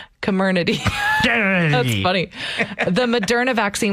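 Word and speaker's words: Comirnaty: to pronounce that one just get drunk and say the word community community that's funny the moderna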